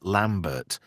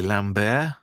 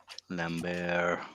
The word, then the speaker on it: Lambert: everybody was saying Christopher Lambert, but it's actually Lambert. Lambert. So in the sequel, he fronted some money up for the production of the movie, and it says Lamb Bear, as in animals, entertainment, just to get that across to people.